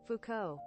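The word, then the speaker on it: Foucault: he looks like a philosopher how do you pronounce that Fuko Fuko ah o oh jeez Fuko yeah no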